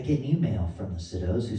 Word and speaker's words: Sydow: It's a Sido guitar, spelled S Y D O W here. My last name is Sido, spelled S Y D O W. They actually pronounce it, but they pronounce it wrong.